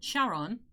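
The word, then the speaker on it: Syaoran: And then it turns it's just a weird sounding Sharon. But Showron.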